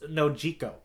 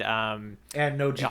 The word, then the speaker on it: Nojiko: I think I'm gonna say, if that's Manji, then I think we should pronounce this Nojiko. Yeah, I'm kind of thinking that too. I think I've been taking my my Spanish vowels everywhere with me, and so I think let's go with.